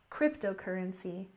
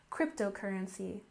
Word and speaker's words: cryptocurrency: and next we have cryptocurrency with a stress on the first syllable cryptocurrency cryptocurrency and of course you